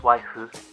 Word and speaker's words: waifu: It's pronounced waifu.